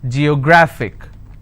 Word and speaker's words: geographic: a look at it geographic how many syllables do i have g yo grah fick and the rule says if i have a word ending with ic i need to stress on the second last syllable so i'll pronounce this as geographic if i have another